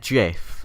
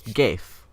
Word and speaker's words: GIF: It's GIF. Shut up. Was it graphics user? No, what? Graphic graphic- interchanged format. format. Yeah, graphic interchange format, whatever. So it's a hard G. It's not GIF.